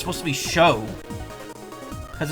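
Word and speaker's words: Chaud: either it's not pronounced chod it's supposed to be show cuz it's the French word for fire or or flame so it'll be show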